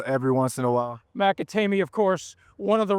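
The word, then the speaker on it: McAtamney: But the international fellow, how do you pronounce his name? Drew Bakatemi. Good. I see you're good on that. I go across this pond every once in a while. McAtamy, of course, one of the reasons the Giants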